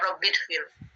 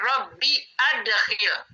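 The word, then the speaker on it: رَبِّ أَدْخِلْ: Salah kalau dibaca rabbidkhil. Kita harus baca Rabbi adkhil. Kenapa Rabbi adkhil? Karena asalnya dari adkhala, yaitu transitif. Hamzahnya harus dibaca.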